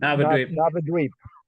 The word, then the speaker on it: Navadvip: Sorry, I can't pronounce that word. Navadvip.